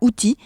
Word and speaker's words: Houthis: Elle m'a expliqué les motivations des Houthis qui se prononcent en réalité avec un S en arabe.